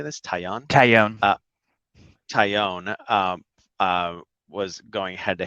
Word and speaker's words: Taillon: Taillon.